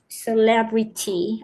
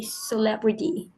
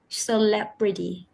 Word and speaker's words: celebrity: the Now functionality and you pronounce the T sound very clearly in the word when you say celebrity I can I I